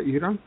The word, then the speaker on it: Iran: Ça se prononce ça, Iran.